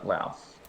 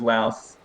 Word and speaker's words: Laos: touched on this before pronunciation of laos um you can say lao or laos um sometimes the yes you can leave it off if you want but those those three